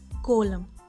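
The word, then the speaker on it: coelom: now let's talk about कोल्लम सी ओ ए एल ओ एम एंड it's pronounced कोल्लम this इसे D body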